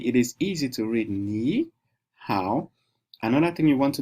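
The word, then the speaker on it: 你好: So that is why I didn't call it ni hao. I call it ni how, because I'm looking at the accent.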